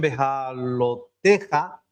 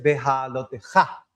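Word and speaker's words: Beha'alotejá: Ya os sé que hay muchos que lo pronuncian Beha'aloteja, pero si se fijan, debajo de la taf hay un shva, y un shva nunca va acentuado. Entonces, esta palabra es aguda, es Beha'aloteja. El arte de encender la propia luz.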